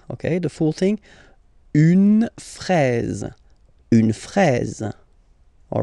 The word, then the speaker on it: fraise: Okay, final E, you don't pronounce it, fraise, fraise. Okay, the full thing, une fraise, une fraise.